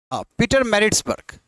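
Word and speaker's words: Pietermaritzburg: जी को कहा गया कि आप निकलो प्रोनाउं पीटर मैरिट्सबर्ग पीटर पीटर merits बर्ग करेक्ट यह स्पेलिंग गलत हो गया इसको टिक कर लीजिएगा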